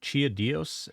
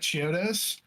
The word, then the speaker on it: Chiodos: Chiaos. Is that Is that how you pronounce that? Bro, get it right. Well, you read it then. Jeez. Hi. So, you like Chiodos?